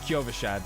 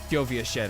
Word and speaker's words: Kyovashad: And I know that's how it's pronounced, Kyovashad, but Kyovashid, I don't know, I like saying it like that.